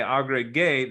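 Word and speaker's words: agregué: But they don't like it because that would be pronounced as hey instead of gay. If you know your pronunciation rules, this would read as agrehe. In order to make it say agregue, they have to add a U in there.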